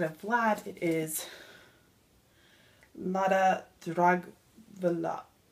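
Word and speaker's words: Dragwlya: So instead of Vlad, it is Lada Dragvila. That's a W. I'm going to pronounce it like Molly does. Lada Dragvila.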